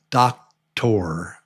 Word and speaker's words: doctor: So this is when it looks like doctor, but it's pronounced just like a TR.